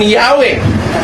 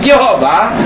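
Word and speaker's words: Yahweh: author ang sabi rito while inclining to view the pronunciation yahwe as the more correct way we have retain the form Jehovah because of people's familiarity with it since the 14th century ang tanong ko totoo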